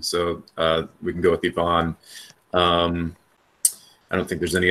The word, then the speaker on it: Ivan: for names just ask Yvonne is actually the standard Russian pronunciation so we can go with Yvonne I don't think there's